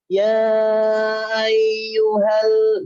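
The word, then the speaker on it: يا أيها: Ini bacanya ya ayyuhal, jadi kayak nyambung banget. Jangan ya. Jadi ada space sedikit aja. Ya ada itu ya. Ya ada space-nya. Jadi bukan ya jangan. Doa, bukan doa, bukan. Meskipun nyambung, tapi ada space karena ada huruf hamzah di situ.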